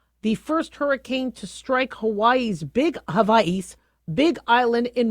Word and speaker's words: Hawaii: First hurricane to hit Hawaii's Big Island. Um I know we've been calling it Hawaii, but it's Hawaii with it's pronounced with a V.